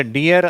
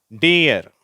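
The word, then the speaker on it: deer: இந்த வார்த்தை மட்டும் கொஞ்சம் வித்தியாசமான உச்சரிப்பு. இதை டியர் அப்படின்னு சொல்லணும். மான் என்ற வார்த்தை இருக்கு இல்லையா, 2 ஈ வந்தாலும் இதே மாதிரி ஈன்ற சவுண்டு வராது. அது இய, இய, டியர் அந்த சவுண்டில் சொல்லணும்.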